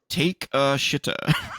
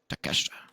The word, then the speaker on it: Takeshita: Take a shitta. That's not how you say it. You are terrible. It's not take a shit, it's take shit, Take shit, Takeshita.